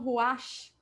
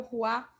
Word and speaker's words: ruach: Alguns falam ruach, é o ruá. Na verdade, esse ruach, o CH ele não é tão pronunciado, então é o ruá.